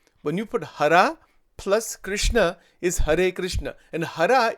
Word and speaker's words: Krishna: Actually, in Sanskrit, if you say it properly, it's Hare Krishna. This word Krishna or Krishna, these are all mispronunciations in reality. But it's okay, it doesn't matter. Bhagwan ko, it doesn't, because people in North India say Krishna. In Gujarat, they say Krishna. The actual pronunciation is Krishna. This is the right pronunciation.